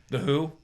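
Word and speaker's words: The Hu: call to spare yes the who spelled hu not to be confused not to be conf confused with yes yes not that who same pronunciation different spelling different Mongolian metal Mongolian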